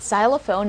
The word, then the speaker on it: xylophone: of the letter x so you would hear the sound of the letter z in this word so it's not psy